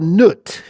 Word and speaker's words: Nut: And this is called Nut. Nut is like spelled like a nut, N U T.